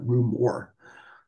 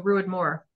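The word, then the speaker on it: Ruadh Mòr: but I call it Rue Moore just because I don't know what else to say about it. So I was told Ruid to rhyme with Druid. Cool. And then Moore, so Ruid Moore.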